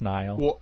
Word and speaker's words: Niall: be isn't the name neil it's niall i thought it was neil it looks like neil but it's pronounced nile like the river listen bud thank you